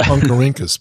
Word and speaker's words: Oncorhynchus: It's pronounced Oncorhynchus, by the way.